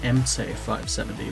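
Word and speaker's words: MTS-570: I should say that the proper pronunciation of the MTS 570 is MC 570, which is interesting.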